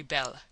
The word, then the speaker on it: belle: that they are very belle. Now dont mispronounce things and get sore till you know. You pronounce that like bell and push button.